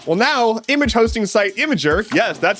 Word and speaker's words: Imgur: loved that decision well now image hosting site imager yes that's how it's pronounced is doing the same thing imager will